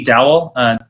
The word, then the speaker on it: Dowell: Yeah, and yes, Dowell is right. I get the same kind of mispronunciations.